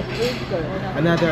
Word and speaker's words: hawker: Okay, so Pronounce properly, Hawker.